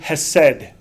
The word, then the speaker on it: hesed: There's a Hebrew word hesed. Okay, it would have been just HSD in ancient because the vowels are added for us to be able to pronunciate it.